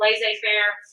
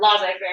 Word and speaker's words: laissez-faire: and that's the whole laissez-faire or laissez-faire, I've heard that pronounced both ways, capitalism theory.